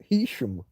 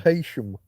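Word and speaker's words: Heysham: living at the time was Hesham, sometimes called Hesham by people who don't know how to pronounce it properly.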